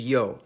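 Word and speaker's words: ё: In almost all of these languages, its name is yo, and it makes the sound yo y or which if you talk fast enough, it basically all sound the same.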